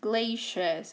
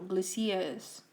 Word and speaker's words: glaciers: At this page the title is glaciers or glaciers. Both pronunciations are fine. Glaciers is more of a French thing, but it is also pronounced like that in the UK. Glaciers is a pronunciation that's more American, okay?